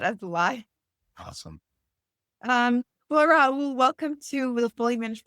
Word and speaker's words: Rahul: Is your name pronounced Rahul or Rahul? Because I don't want to keep butchering it. Both. I respond to both, but the original pronunciation is with the H, Rahul.